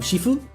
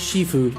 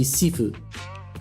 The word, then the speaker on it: Shifu: shif of shifue because they kept pronouncing it shifu. And it was driving me nuts. But uh, no, it is shifue, but a separate pronunciation, specifically Cantonese, would be sefue, which is probably why you you remember sefue instead of shifue.